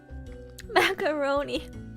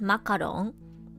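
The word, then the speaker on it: マカロン: macaroon wait is is macaroon even like the correct way to say it in japanese is makarong some people say macaron some people say macaroon i don't even know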